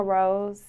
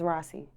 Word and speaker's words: Rosee: what is the correct way to pronounce your stage name rose is just with two e's why two e's that's just how i differentiate differentiate myself people mispronounce this yes terry she says rossi people misspell this yes they always use one